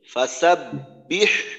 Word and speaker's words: فسبح: এখানে এই আয়াতের শুরুতে ফাসাব্বিহ বিহামদি, ফাসাব্বিহ বিহামদি, এই যে হার উচ্চারণটা, প্রথম শব্দের হা, এই হার উচ্চারণটা আর একটু স্পষ্ট করা দরকার।